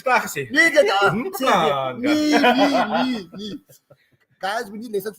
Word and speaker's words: Mpumalanga: Mpumalanga. Exactly. Mpumalanga. So, let me hear. Ik is klaar gezien. Nee, get up. Mpumalanga.